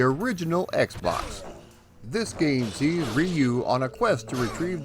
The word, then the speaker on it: Ryu: due diligence let's all learn the word together ryu ryu ryu there we go i have now learned the proper pronunciation of the word thank you youtube now